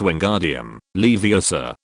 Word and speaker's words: Wingardium Leviosa: His partner Hermione said bluntly, it's Wingardium Leviosa, and the word ga should be pronounced long and clearly.